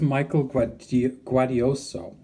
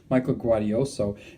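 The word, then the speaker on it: Michael Gaudioso: over here this is michael quad guardioso i said it wrong before but michael guardioso and over here is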